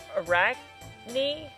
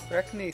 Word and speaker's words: Arachne: So this is the Arachne. How do you pronounce that? Arachne. Arachne. Right? Yeah, It's so from arachnid.